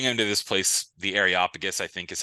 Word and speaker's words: Areopagus: They bring him to this place, the Areopagus, I think is how you say it.